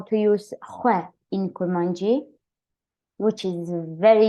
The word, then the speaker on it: xwe: But about pronunciation, so you need to be careful because we have another word which is XWE, and this means salt. So be careful, don't pronounce this one very long.